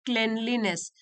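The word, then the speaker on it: cleanliness: आई was impressed by the degree of क्लेनलीनेस, क्लीन word से बना है लेकिन हम इसको प्रोनाउंस करते हैं क्लेनलीनेस।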